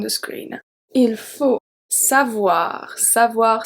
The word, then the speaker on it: savoir: Savoir, same pronunciation as avoir is W-A, savoir.